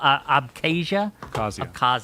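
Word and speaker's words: Abkhazia: They put and they took an intering conflict that was in South Oessia and um I can't pronounce oh abcasia thank you and they pumped money into them.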